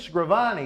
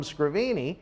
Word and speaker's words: Scrivani: I believe it is Scrivani, is it not? Well, Cecil the Lion called him Scrivini, and I am very happy